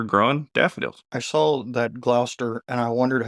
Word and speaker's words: Gloucester: lived in is pronounced Gloucester I believe it doesn't look like it's pronounced that way but I have listened